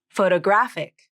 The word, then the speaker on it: photographic: stress of the word photograph has stress on the first syllable photograph and photographic has stress on the third syllable of the word photographic the question i'm asked